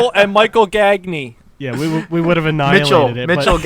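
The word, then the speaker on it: Gagné: Gagne. Yeah, we would have like and Michael Gagne.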